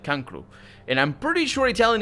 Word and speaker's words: cancro: Don't actually say cancer like Spanish do. We say cancro. That's just how it's said. Cancer is said cancro, and I'm pretty sure